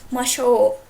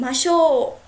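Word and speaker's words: ましょう: Whenever you use a masho, which is let's do something, you just take your intonation high. I mean, it's not going to be masho. It's going to be masho.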